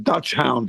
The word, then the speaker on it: Dachshund: Yeah, Dutch hound is correct. You got it, Dutch hound.